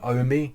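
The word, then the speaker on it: Ohme: it motability have partnered with a company called ome which is spelled o h m e and they if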